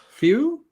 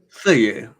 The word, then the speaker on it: feuille: Few or fouille? Feuille. Bravo. Perfect. Why on earth? There's some French words that I have down pat, and there's something about this one. Just say it like a Frenchman with attitude.